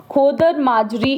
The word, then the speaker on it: खोद माजरी: question पूछा जाता है खादर माजरी इसको खोद खोद माजरी भी बोलते हैं ठीक है जगह का नाम जो भी प्रॉपर वे में प्रोनाउंस किया जाता है खोद माजरी इस जगह को बोला जाता है जहां से ये एंटर